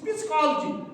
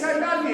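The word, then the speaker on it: psychology: मैंने भी कहा है, कोई पढ़ेगा ओ दिस इज पिस्कोलॉजी, समझे, वो रीडिंग करेगा स्पेलिंग से, इसको मतलब ये सोचता है कि पिस्कोलॉजी नहीं है, ये साइकोलॉजी है।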